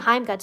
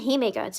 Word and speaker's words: Hime Guts: They keep saying Heim Guts. It's fucking Hime Guts. It's Hime Guts.